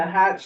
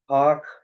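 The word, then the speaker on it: Hach: vote on renewing the Hatch service partnership or Hawk. It's pronounced Hawk, right?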